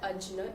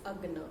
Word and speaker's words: Ajna: Now I was pronouncing this chakra wrong for the whole time. It's not Ajna, it's Agna.